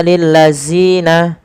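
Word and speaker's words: الذين: Kemudian balafal lil ladzina, panjangkan zi sepanjang 2 harakat dan hati-hati dalam melafalkannya, jangan sampai terganti dengan huruf zai. Jangan kita baca lil ladzina, akan tetapi lil ladzina, zina. Kemudian pada lafal yaktubuna, huruf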